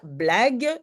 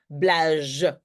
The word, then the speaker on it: blague: le mot difficile éventuellement blague tu sais que tu dois mettre un U après les G sinon tu prononces blage on le sait entre-temps